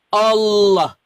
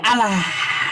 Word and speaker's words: Allah: Jika dia ya diawali dengan fathah, kam mungkin enggak tahu fathah gitu, maka dia dibaca tafkhim tebal. Allah enggak ada alah enggak ada.